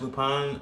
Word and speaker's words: Lupin: it's called lupin uh i know i'm calling it lupin i i've heard it pronounced lupine uh uh based off